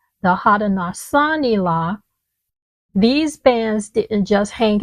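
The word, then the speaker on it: Haudenosaunee: H A U D E N O S A U N E The Hadasani.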